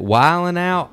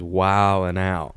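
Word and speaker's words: Wild 'N Out: it's pronounced usually is wild and out ain't it yeah nobody really said D silent nobody nobody really says wild and now yeah it's gotta be like a silent D in the urban dictionary right so you know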